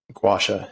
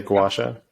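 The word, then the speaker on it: gua sha: just really really good to move everything around gwasha it's a gowasha how do you spell that g-u-a-s-h-a okay i know i'm going to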